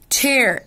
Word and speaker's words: chair: chair ch احنا قلنا بتتنطق إيه؟ ش، ما عدا كلمة عدت علينا، ها ايه هي؟ لسه قايلينها من شوية. school اتنطقت فيها ايه؟ ك ك، انما هنا منطوقة ش، فقلت chair chair chair.